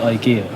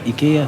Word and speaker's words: ايكيا: وي بكام حلو معلومه الناس اللي بتنطق ايكيا في مصر تنطقها غلط بتقول ايكيا يا جماعه بتتنطق ايكيا مش ايكيا ايكيا ايكيا عن اي